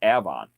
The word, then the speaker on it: Avon: We have a town right down the road here it's spelled Avon, but we pronounce it Avon.